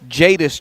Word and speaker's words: Jadis: jones streaking toward the jada streaking toward the back basket like he did got some clarification it's jadis jones hey this is jones jadis jones is how you say it that's why we got